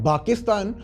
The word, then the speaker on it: Pakistan: Because in Arabic language 'प' is pronounced as 'ब' then Pakistan became Bakistan and Punjab became Banjab.